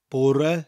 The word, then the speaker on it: bore: de Bourgh red da porra spelt be au r e like the english word poor oh I'm so bored that kind of poor but with an extra e